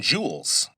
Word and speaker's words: joule: Now, e is measured in joules. Let me spell that because it sounds like j e w e l s. But, it's based on an old scientist's name, and so, his name was joule, j o u l e.